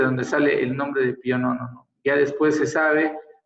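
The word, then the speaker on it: Pio Nono: Y le dijo al Pío Nono, que es como se pronuncia en italiano, ¿no?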